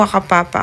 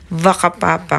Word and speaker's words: Whakapapa: And sabi nila hindi po wakapapa ang pronunciation ng place is vakapapa kasi ang WH daw sa New Zealand sounds like V.